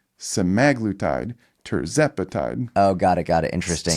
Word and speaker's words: semaglutide: Just an aside, people say semaglutide, and it's semaglutide. Terzepatide. Oh, got it. Interesting. So the emphasis is on the other side of emphasis it.